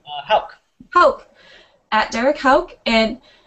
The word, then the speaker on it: Houck: Houck.